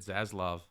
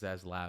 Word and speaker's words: Zaslav: is his name David zaslav that's zaslav okay zaslav sorry zaslav but I think it's pronounced zaz I sounds so evil but it's zaz laav yeah allegedly allegedly sounds